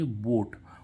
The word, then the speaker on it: vote: बाद अगर ई हो तो इस ओ का उच्चारण क्या होता है, ओ होता है। तो जैसे VOTE, तो इसको हम क्या पढ़ेंगे, वोट।